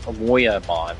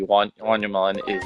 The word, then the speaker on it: Wanyamon: I don't even know how to pronounce his name. Moyamon, I think is how you pronounce it. It's W-Y-A-N. We got Photomon here, which will rank him up to 100, 200. Yep. Oh, sorry. Wanyamon.